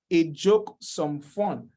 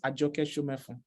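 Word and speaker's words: Ajoke Somefun: pronounce this name, and he said, a joke, some fun. Whereas this name actually means, or is pronounced Ajoke Shomefun. And that's a Yoruba language, right?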